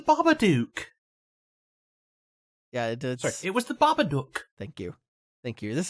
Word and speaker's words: Babadook: yeah it was the babadook thank you thank you this is very important it rhymes with look and book so if you if